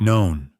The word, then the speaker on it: None: None pronounced like known. Not none just to keep things confusing, isn't the most thrilling of the lurggical hours.